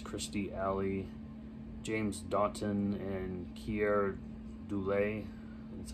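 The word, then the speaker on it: Keir Dullea: get joseph bottoms christie alley james daughton and kierr doulay that's how you say his name uh martina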